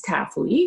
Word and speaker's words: Tafui: So my name is Tafui, so it's Taf and we, like us.